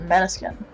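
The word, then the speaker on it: Måneskin: Main skin I think is what how pronounced. Yeah. How do you pronounce it? The band pronounces it mannequin.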